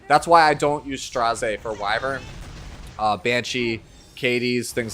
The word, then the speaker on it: Straze: The reason I pronounce his name Straze is because every version of Lilibet has a voice line in the game that refers to him as Straze and not Strays, which is what most people refer to him as.